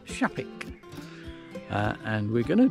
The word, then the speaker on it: Shapwick: star and it's called shaik it's actually spelled with a w s h a p w so shapwick but um pronounced shaik uh and we're going